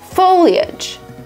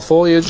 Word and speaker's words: foliage: This word is pronounced as foliage. Foliage. And the fall foliage is amazing. Some people pronounce it as foliage. Again, because the spelling is tricky.